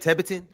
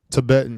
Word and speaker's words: Tibetan: That's how you say it. Tetan Tibetan Tibetan.